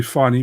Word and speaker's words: Fanny: It's actually funny, but you say it's written Fanny. And Cage Warriors, he's good. How do you pronounce it? F-A-N-N-Y, but you say funny.